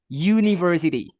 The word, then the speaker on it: university: tapi ya Hah apanya kalau misalkan University Kan itunya hurufnya vokal tapi kan pengucapannya itu kan k dibacanya kan menggunakan huruf y University itu sama kayak an